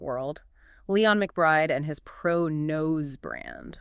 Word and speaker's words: ProKNOWS: And just quickly for clarity when we say pro-nose it's pronounced pro- nose kind of like the nose knows.